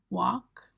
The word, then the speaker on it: walk: Walk. Run. So just a point to make there, you don't pronounce the L in walk and talk. Nobody pronounces it. It's what we call a silent letter.